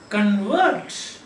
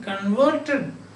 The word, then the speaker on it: convert: happens modern substance again another example is convert correlates so convert is to change somebody said this uh he has been converted converted from x religion to y religion you can say converter that is one he is a convert that means a person who is converted so announce if the